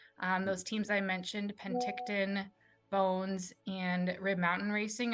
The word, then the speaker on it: Penticton: over the um Podium Chase pack of um Penticton which Jason taught me to pronounce last time so thanks Jason um the